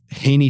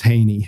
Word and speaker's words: Heaney: Haney I can't remember I think it's I think um Sheamus Haney is how you're supposed to say his name so forgive me if